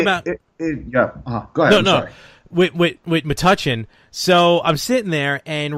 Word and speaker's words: Metuchen: I'm like, "Raven, it's Metuchen."